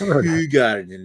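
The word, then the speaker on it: Hoegaarden: good as it used to be is it hog Garden it's h Garden because it's okay if you say it like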